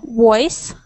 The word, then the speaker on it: voice: Anthem good uh voice so that V is this sound V your teeth actually touch your front teeth your front lip your bottom lip when you make that sound like this v v v voice voice voice good voice think of the v as your teeth touching your lip so think of your